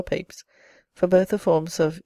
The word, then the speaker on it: Pepys: The most probable explanation is that the name in the 17th century was either pronounced Pips or Papes, for both the forms of A and E would represent the latter pronunciation.